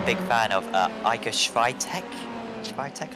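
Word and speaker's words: Świątek: Swiatek, I believe it's how you pronounce her name in the world of tennis.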